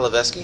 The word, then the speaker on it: Levesque: What did I pronounce it wrong? Levesque. Is that Paul Levesque? Yeah. That is not Levesque? No, it's Paul Levesque. But it's spelled. I know. I did the same thing. I know. I thought it was Levesque for the longest time. Hey, shut up. It's French.